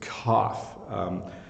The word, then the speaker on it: cough: a slightly different sound it's still an F sound but this is cough so when you cough